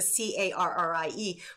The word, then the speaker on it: Kerry: a way back when is Carrie with a c-a-r-r-i-e but actually my mother because she's Scottish said